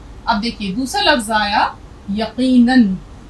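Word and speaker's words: यक़ीनन: यहां हमने दो ज़बर, तो नून दो ज़बर नन, रे दो ज़बर रन। यहाँ अलिफ की आवाज़ नहीं निकलेगी, अलिफ साइलेंट है, यहाँ भी अलिफ चुप है, खामोश है। तो फे वाव दो ज़बर फौ, रे अलिफ दो ज़बर रन, फौरन, यकीनन। तो ज़िम्नन, जैसे एक लफ्ज़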